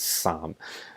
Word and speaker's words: 三: Why are you pronouncing it as Sam? As you know, Cantonese words have various readings. And those alternative readings don't necessarily come up as much, but they do in certain words.